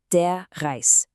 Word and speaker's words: der Reis: Rice, or as you'd say in German, de rice. It sounds a lot like the English word.